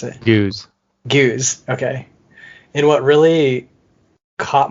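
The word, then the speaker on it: Gueuze: Maybe you should pronounce it. Goose.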